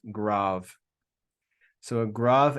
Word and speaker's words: grave: another Omicron with a grav accent it looks the just so you know that accent is spelled like grave but it's pronounced grav so a grav accent